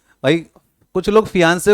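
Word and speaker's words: fiancée: रहती है कुछ लोग वैसे तो एग्जैक्ट स्पेलिंग फियांसे और यहां पर आ जाएगा एफ आई ए एन C double E फियों से ठीक है फियांसे और फिंस फियांसे और फंसे ठीक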